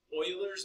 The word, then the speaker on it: Euler: This is pronounced two ways: Euler's method or Euler's method. Both pronunciations are accepted. Euler's is the more European pronunciation, but you also sound way cooler. If you know it's actually Euler's.